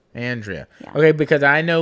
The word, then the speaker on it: Andrea: should introduce yeah and how do you correctly pronounce your first name andrea andrea okay because i know like 15 people with